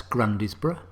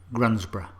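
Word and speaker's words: Grundisburgh: pronounced isn't it clear that's grundysburg nope grunsborough hollersley nope hoesley surely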